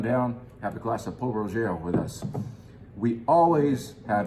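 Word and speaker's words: Pol Roger: So we're gonna do Paul Roger, or as its biggest fan, who is now gone, but is still famously known for mispronouncing the name, Paul Roger.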